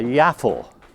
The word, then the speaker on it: yaffle: But this amount here is what we would call a yaffle. Now that's spelled Y-A-F-F-E-L, a yaffle.